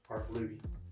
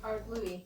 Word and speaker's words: Ardlui: Ardlui. Ardlooey.